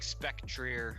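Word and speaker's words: Spectrier: could be some i think ghost horses like spectreer i think that's how you say it oh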